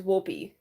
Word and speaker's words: Wolpy: The correct pronunciation is Wolpy.